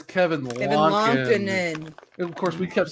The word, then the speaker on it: Lankinen: It's Kevin Lankinen. No, it's Kevin Lankinen.